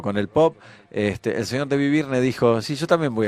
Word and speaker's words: David Byrne: David Byrne, así se pronuncia.